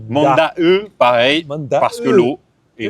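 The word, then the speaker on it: Monday: Alors ça s'écrit m O N D A Y mais ça se prononce pas monde. Ça se prononce manda. manda e pareil parce que l'eau et le e c'est l'eau.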